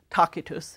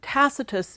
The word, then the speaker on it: Tacitus: want to consider is Publius Cornelius tacitus takitus in Latin tacitus as he's pronounced in English now unlike Livy tacitus is what's often called